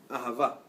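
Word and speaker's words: אהבה: In Hebrew, the word love is spelled Aleph, Hey, Bet, Hey. Ahava.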